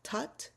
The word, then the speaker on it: tat: So, and there are two other syllables tut t a t and s s a t.